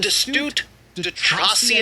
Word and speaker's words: de Tracy: And de Tracy, I believe is how you say his name in French properly, he saw exactly what